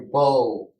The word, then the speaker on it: beau: lot of silent letters, like your beau, which we would, in English, we would say B-O, but they spell a beau like a paramour, like a boyfriend.